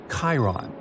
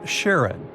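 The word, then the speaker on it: Charon: And finally, while standing on Pluto, you would see its five moons, Stixs, Nyx, Keraros, Hydra, and the most mysterious one, Chiron, also pronounced Sharon.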